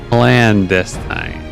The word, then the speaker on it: clandestine: Yeah, clandestine. All right, so it's the emphasis on the second one, not the first one.